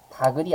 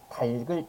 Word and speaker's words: 닭을: 같은 원리로 움직이는 건데 사람들이 자꾸만 이것을 닭을 닭을 이렇게 발음하는데요 틀린 발음이죠 똑같은 원리에요 그래서 겹받침이고 모음으로 시작하는 형식 형태에서 왔기 때문에 끝 음은 그대로 연음해 가지고요 다글이 아니라 어떡해요 닭을 이렇게 써야 되죠 그죠 닭에게 모이를